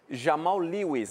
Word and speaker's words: Jamal Lewis: que cheguem para resolver e ajudar o grupo Jamal Lewis né a pronúncia correta né ele ele ele estreiou também